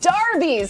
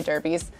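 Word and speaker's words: derby: are moving on to darby's another great topic depending on how you say it some people say derbies i say we've had this debate i say darby but we have a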